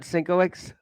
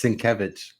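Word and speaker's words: Sienkiewicz: there you go wait it's not sinox it's sevich I still say s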